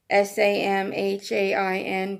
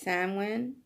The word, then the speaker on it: Samhain: Samhain, but you never pronounce it like that. It's Samhain.